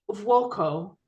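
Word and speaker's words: Vuokko: Is it Vuoko? Yes, it is correctly. I'm saying it correctly.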